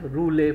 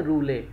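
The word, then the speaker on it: rouleaux: तो this stack like structure of आरबीसी is called as रूले formation. इसको क्या बोलते हैं, रूले ना, स्पेलिंग है रूलेक्स, ठीक है, रूलेक्स स्पेलिंग याद रखिएगा।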